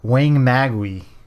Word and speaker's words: Wangmagwi: uh and we're gonna be covering space monster weighing magwi yeah and I pronounced it correctly I watched the commentary track